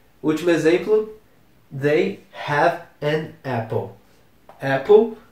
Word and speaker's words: Apple: de de computadores e muita gente fala Apple mas não é Apple é Apple mesmo eles têm uma maçã